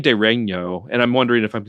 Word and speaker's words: De Regno: I mean, the GN in Latin is sometimes pronounced like the GN in Italian by people more in medieval studies or more ecclesiastical circles, but they're saying it just fine.